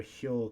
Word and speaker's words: 漂: You should remember hyo because that's the same way we pronounce the right side of this kanji.